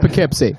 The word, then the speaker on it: Poughkeepsie: In the Frid Zone, it's yes. pronounced Poughkeepsie.